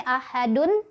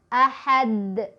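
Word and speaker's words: أحد: ada kata seperti ini, ahadun. Ketika berhenti kan dunnya jadi wakaf, jadi mati ya, jadi sukun. Maka kita bacanya jadi qalqalah kubro. Ahad, ahad, gitu ya, mantul. Yang salah misal ahad, nggak mantul ya.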